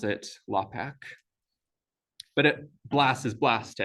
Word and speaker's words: LAPACK: east coast people people outside of the us pronounce it lapack but it blasts blast to everybody and these